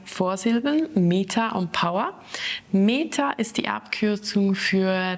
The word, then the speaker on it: PWR: Da haben wir aber auch Meta und Power. PWR wird Power ausgesprochen, das ist für Kraft, Energie.